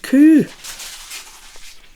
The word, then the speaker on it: coo: The Highland coo, that's how they say it in the Highlands, will go there.